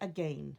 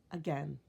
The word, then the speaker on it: again: Some people say again. There's no doubt about it. But often we say again, like it's an en at the end. That that kind of pronunciation. And so this one could go here or it could go here. Canadians tend to say again when they're trying to make an emphasis, but also say again.